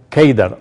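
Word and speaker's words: קֵדָר: de Cedar en árabe la palabra Cedar se pronuncia keidar o se escribe keidar es a través de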